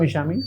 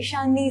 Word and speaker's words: Eshani: Please come, Ishami. Yeah. Good afternoon, sir. Good afternoon. Good afternoon. Please sit down. Thank you, sir. So, am I pronouncing your name correctly? Yes, Ishami? Sir. Eshani, sir. Eshani.